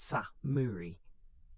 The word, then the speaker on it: samurai: These warriors would come to be known as samurai pronounced sa muri.